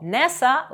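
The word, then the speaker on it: NASA: administration - це acкроonм бо nessa вимовляється як слово а не послідовність окремих літер інші приклади знайомих вам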